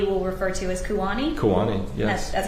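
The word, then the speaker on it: Ku'ani: Kuwani, yes. That's how you spell that, please.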